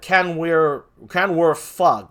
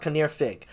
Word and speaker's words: Kinnear Fig: Kinnear Fig. That's how you pronounce that name for those of you who don't know. That Canwer Fug. It's actually pronounced Kinnear Fig.